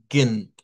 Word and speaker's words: Morgen: morgen, Escuchen, no pronuncia la E que está en medio de la GN, sino que de un solo. Morgen. Morgen. No suena la E. Lo que suena es la G con la N directamente.